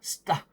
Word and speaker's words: 따: 하늘천 따지라고 할 때 이 따의 이 조선시대 때 발음은 바로 따가 아니라 스따입니다. 스따.